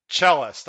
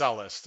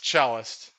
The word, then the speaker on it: Cellist: will take the ride cellist i actually heard someone pronounce this horse ellis and i almost threw